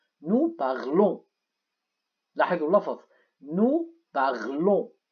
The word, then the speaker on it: parlons: لاحظوا اللفظ nous parlons. إذن ال n ال s لا تلفظ.